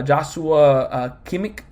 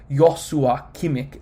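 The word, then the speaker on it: Joshua Kimmich: uh kimik uh I I recently saw a video that was saying how they say his name when he was winning the defensive player of the year and it was like weird it was like yosua kimick and so I'm trying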